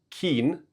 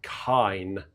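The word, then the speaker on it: kein: If you've got the I and the E or the E and the I in German, it's always the last letter that you uh pronounce. So rather than it being keen, it's kind because the I is the second letter. So if it was K I E N, it would be keen.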